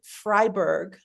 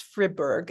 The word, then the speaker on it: Friberg: It is a painting by Arnold Fryberg, I think is how I say his name. Perhaps it's Friberg. F R I B E R G.